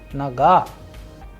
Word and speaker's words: нога: In naga also we have a vowel o, but the stress is on a, that is why the pronunciation is naga.